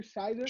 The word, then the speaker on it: Scherzer: How you pronounce his last name? Scherzer.